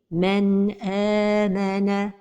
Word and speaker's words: مَنْ آمَنَ: Donc la prononciation correcte est مَنْ آمَنَ.